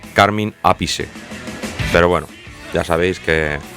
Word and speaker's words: Carmine Appice: menos que del grandioso carmín apis que creo que realmente se pronuncia carmine appice pero bueno ya sabéis